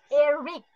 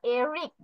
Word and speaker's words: Eric: জান্নাত, this pronunciation is Eric. ক হবে লাস্টে, চ না, Eric.